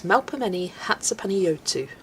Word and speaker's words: Melpomeni Chatzipanagiotou: And I believe it's Melpomeni Chatzipanagiotou. You don't pronounce the C, and the G is more of a Y sound.